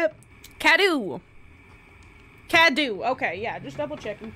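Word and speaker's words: Cadou: Cadu.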